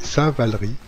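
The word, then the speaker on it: Saint-Valery: de repartir alors oui il faut prononcer saint-val riz en souvenir du moine vannerie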